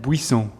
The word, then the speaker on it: Buis: pronouncing your first your last name before anything busov yeah that's good enough okay go on you do it one more time bov buis yes okay where's that name from um bris